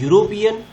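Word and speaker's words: European: शुरू हो रहा है, लेकिन उसका उच्चारण ई से नहीं होकर, ई तो साइलेंट है और यू से शुरू हो रहा है, यूरोपियन।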